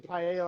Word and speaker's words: paella: So, I knew paella. I keep saying paella like the food dish.